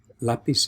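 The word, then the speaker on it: lápiz: last syllable here right lapis is an exception that's why it carries a an accent on the a the first syllable okay so finally that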